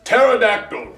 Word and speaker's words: pterodactyl: Possum starts with a P, and pterodactyl starts with a T. The P is silent.